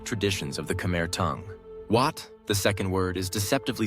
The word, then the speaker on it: Wat: In spoken Khmer, Wat is lighter, less assertive, yet brimming with significance,